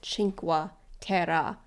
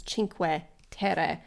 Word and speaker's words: Cinque Terre: in the episode because I always call it chinka Tera which is not what it is it's chin ter meaning five lands yeah so oh and